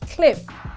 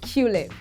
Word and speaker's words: Qlib: It's pronounced clip and not Qlib.